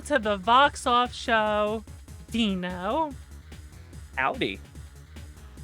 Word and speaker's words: DNO: have a wonderful guest by the name of dino or dino dino please or as i say dino pulse i always pronounce it dino poles uh and if you